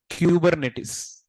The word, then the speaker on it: Kubernetes: commit guys listen here the pronunciation is exactly kubernetes what is the pronunciation but depends upon the accent sometime R should be